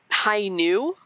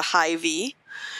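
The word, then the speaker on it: Hi-ν: the gun of uh high new new um looks like the letter v in english so some people who don't who aren't familiar with gundam might be calling it the high v and they're like okay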